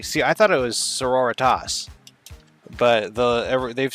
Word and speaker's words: Sororitas: The Adeptus Sororitas. I always thought it was Soritas, but it's like Senorita. At least that's what the narrator says.